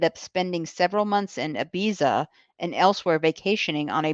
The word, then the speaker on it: Ibiza: And what happened is Johnny ended up spending several months in Ibiza and elsewhere vacationing on a boat with Saudi princes. You have a good Catalan pronunciation.